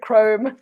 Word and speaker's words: Crom: kromm is a brick crumb yep pronounced wrong but spelled crumb oh is it chrome it's pronounced chrome yes oh I know